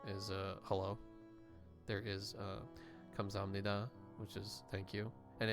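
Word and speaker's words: 감사합니다: It's like Kamsahamnida, and she did like a double take at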